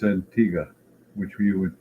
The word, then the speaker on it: Antigua: Here I am in the country, and it's Antigua, which you would pronounce Antigua.